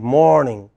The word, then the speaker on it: morning: You see, it is always the first part of the word morning, the first syllable in the word morning, which is stressed. So, it is not good morning, it is good morning.